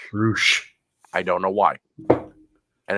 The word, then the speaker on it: Rush: What I don't get is the guy's name is spelled Rush, R-U-S-H, but they call him Roosh. Roosh.